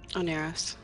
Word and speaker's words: Oneiros: Oneiros.